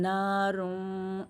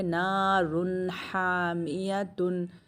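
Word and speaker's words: نَارٌ حَامِيَةٌ: इसलिए, हम यहां दोपहर की ध्वनि का स्पष्ट उच्चारण करेंगे। हम इसे छिपाएंगे नहीं। हम इसे इस तरह नहीं पढ़ेंगे। नहीं, 'नार्न' नहीं, हम इसे इस तरह नहीं पढ़ेंगे। 'नारुन हमिया'। सही?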